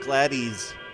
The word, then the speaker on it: Gladys: ] gary hey gladys don't leave me alone then hurry up it's pronounced gladdies gary clavis is running